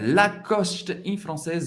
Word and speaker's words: Lacoste: Agora com o nosso crocodilo preferido, nosso jacarezinho, Lacoste em francês é Lacoste. Lacoste. Lacoste. Não tem muita dificuldade para pronunciar essa marca famosa francesa.